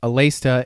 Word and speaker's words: Aleste: So GG Aleste, pronounced Alesta in Japan, is a vertical shooter on the Game Gear that was both published and developed by Compile in 1991.